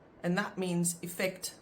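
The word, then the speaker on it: effek: However, the pronunciation is different because you have effect pronounced with the Afrikaans I, but then you have effectief, which is actually pronounced phonetically like it should be pronounced.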